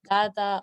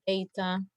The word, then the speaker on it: data: The language used is easy, so they talk about differences, qualitative, quantitative, and they talk about data or data. Both are acceptable pronunciations.